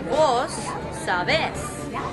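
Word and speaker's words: vos: do speak Spanish however they use a different form of you they say v-o-s instead of two so they also put the emphasis on a different syllable so if you know Spanish you would conjugate the verbs but in Central America in Honduras you would say boss so you're putting the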